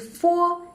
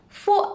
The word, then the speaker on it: fo: However, fo is a dentin labial sound. When we pronounce it, the upper teeth make a light contact with the lower teeth.